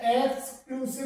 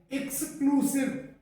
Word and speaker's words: exclusive: आता है, ये EXCLUSIVE, जिसे अधिकांशतः एक्सक्लूसिव बोला जाता है, एक्सक्लूसिव, जो कि गलत है। और इसका सही जो प्रोनाउंसिएशन है वो एक्सक्लूसिव, एक्सक्लूसिव करके होता है।